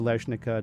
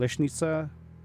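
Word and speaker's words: Leśnica: look like uh rolnika leishnika denica these are all um the the ica is actually suppose i think it's apparently supposed to be pronounced it'sa so leshnitsa rolnitza danitza the problem is that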